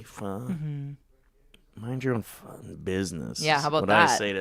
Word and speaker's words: pho: Yeah, or like pho. When people are like, "It's actually fun."